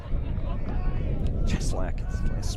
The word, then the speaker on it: Cheslack: Cheslack. Kind of rhymes with Sleestack.